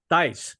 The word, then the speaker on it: Thijs: How do you pronounce it? Is it this? What? How do you? Thijs.